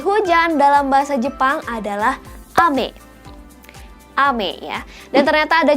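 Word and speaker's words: 雨: Dan hujan dalam bahasa Jepang adalah ame.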